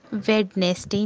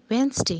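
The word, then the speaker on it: Wednesday: वेडनेसडे, वेडनेसडे, वेडनेसडे नहीं होता है, वेंसडे होता है, वेंसडे, वेंसडे।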